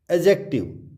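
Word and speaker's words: adjective: Adjust, it's not adjust, इसको जो सही प्रोनाउंसिएशन है वो है adjust. Not एडजेक्टिव, इट्स एडजेक्टिव, एडजेक्टिव, इसको हम एडजेक्टिव नहीं बोलेंगे, इसको हम बोलेंगे एडजेक्टिव।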